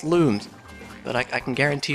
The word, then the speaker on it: Lums: I believe they're called most people would pronounce them Lums but apparently they're pronounced looms but I I can